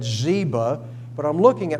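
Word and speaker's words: Ziba: forth between zba and the way I've always heard it Zeba if I do I just look at the spelling and that's probably zba is the way to say that and so there there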